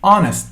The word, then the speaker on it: honest: To be honest with you means like if I wanted to be honest with you, we never say honest. The H is not pronounced. We say honest.